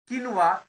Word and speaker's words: quinoa: queue is the topic okay so but the pronunciation is the kinwa k-w-e-n-w-a-h so quinoa is the pronunciation basically is